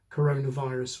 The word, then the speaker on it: coronavirus: actually pronouncing the word 'coronavirus' with the stress on the second word, coronaVIRUS.